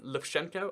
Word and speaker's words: Lukashenko: But like, if you look up Lukashenko, I think is how you pronounce his name, it really is quite clear that like that's his thing.